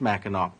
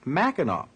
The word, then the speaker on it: Mackinac: Well, above the straits, everything named Mackinac will be spelled with an AC on the end, but pronounced Mackinac.